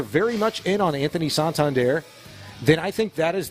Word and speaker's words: Santander: It's not Santander, it is Santander. And you got to go like, hoi.